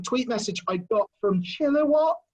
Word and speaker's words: Chilliwack: message i got from chilliwack i'm gonna try and pronounce that correctly normally i'm on stage and someone could pronounce it chiller what chili wok anyway there up in